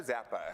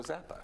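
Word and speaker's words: Czappa: Zappa. I'm hoping I say that last name correctly. Okay. It's C-Z-A-P-P-A, so Okay. I believe the C is silent, so Zappa. All right, so Zappa, you are the we'll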